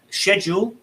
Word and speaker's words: schedule: question um so yeah schedule shore and often uh it's that's interesting schedule and sure because they both start with that sh sound um but they're spelt